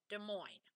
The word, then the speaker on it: Des Moines: also capitalized works in des moines and so des moines is spelled weird because it's not spelled the way it's pronounced you have d-e-s and then m-o-i-n-e-s for des moines okay des moines so remember that dictation